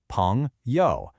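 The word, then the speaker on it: 朋友: Next up, we have a word you are going to use all the time, 朋友. It's pronounced 朋友, and it means friend.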